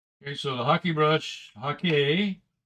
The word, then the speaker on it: Hake: Okay, so the Hake brush, Hake, it's pronounced Hake, which is Japanese.